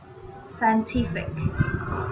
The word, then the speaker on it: scientific: she's feeling intense scientific scientific stress falls in their third syllable this word means relating